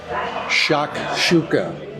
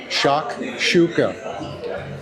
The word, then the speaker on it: shakshuka: Shakshuka. I was pronouncing it incorrectly all this time. I don't know how many shows we did where I order this and I said it wrong. Shock shooka.